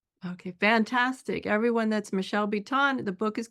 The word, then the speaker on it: Biton: yeah, Biton. Yeah. Her name's pronounced Biton, but I wanted to make sure everybody could Yeah.